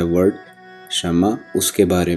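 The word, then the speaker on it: 什么: Pronunciation को पहले समझ लीजिए। शम्मा, शम्मा, जी बिल्कुल जिस तरह शम्मा बोला जाता है उर्दू में, शम्मा जिसका मतलब है व्हाट, यानी कि क्या।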